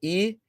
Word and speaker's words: Gabriel: 9-year-old Gabriel King, and there's a difference in the pronunciation of that name. If it's spelled Gabrielle, it means it's reference to a female. It's a female name. With just one L, it's a male name. So it's Gabriel, that's the male name.